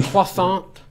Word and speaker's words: croissant: a croissant young man you have to say it correctly can i get you a croissant yeah it's not another crescent not not that no i'm sorry danny just says it right travis croissant the the